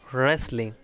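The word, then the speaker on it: wrestling: তারপরে হচ্ছে রেসলিং, রেসলিং এখানে ডাব্লিউ উচ্চারণ হবে না, আর রেসলিং মানে হচ্ছে কুস্তি।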